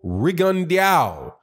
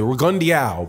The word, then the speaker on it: Rigondeaux: I do believe that's how you pronounce it. Rigondeaux.